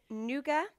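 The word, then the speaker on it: nougat: the new got so nuga would you pronounce the T I wouldn't anyway also known as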